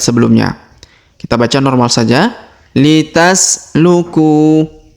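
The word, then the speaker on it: لتسلكوا: Litasluku. Litasluku. Huruf ku kita panjangkan 2 harokat karena waw sukun di depannya.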